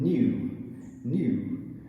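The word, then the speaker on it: knew: Danish words, for some reason, often start with the letter K that is a silent K, as in the word new.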